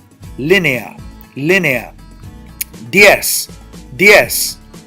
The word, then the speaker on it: diez: Diez, diez. Now, diez, I have an open vowel and a closed vowel. That's called a diptongo, a diphthong. That creates 1 syllable.